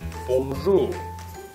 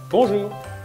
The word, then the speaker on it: bonjour: You have also to put it into two syllables, like a lot of words in French. Bon, this is the first one, and jour, this is the second one.